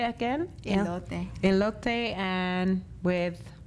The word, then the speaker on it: elote: say how do you say it again ele elote and with h men but you can do